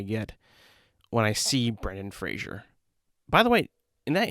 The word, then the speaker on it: Fraser: Apparently, we've been saying his name wrong for all this time, And I remember when Adam Sandler actually said Fraser and not Frasier.